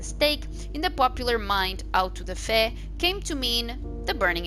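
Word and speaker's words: auto-da-fé: let's go okay and out to the fair that's the pronunciation uh from the Portuguese for Act of Faith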